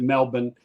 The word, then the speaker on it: Melbourne: They pronounce it Melbourne.